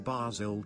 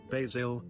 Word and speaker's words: basil: Basil, or basil, has 2 main pronunciations, the American way, basil, and the British/more traditional way, basil, with variations depending on if it's the herb or the name.